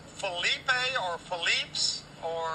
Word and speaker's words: Philippe: Los Angeles a long time is it properly pronounced Felipe or phelips or i' say Felipe Felipe yeah but it really can be pronounced